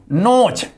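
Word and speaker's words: nose: देखिए ध्यान दीजिए, जब भी ओ डैश डैश ई हो तो वहां पर ई साइलेंट होता है। जैसे नोज, एन ओ एस ई, नोज miss होता है नाक।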